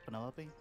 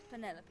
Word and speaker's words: Penelope: July a short for Penelope a fish with all four syllables of it Penelope sounds a little ostentatious